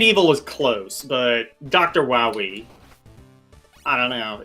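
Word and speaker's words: Wily: the platform Dr W actually it's not pronounced Dr Wy it's Dr woi um get it right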